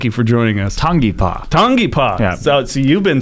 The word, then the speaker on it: Tangipa: Tang tangap thank you for joining us tongi tongi PA so see you've been saying it right T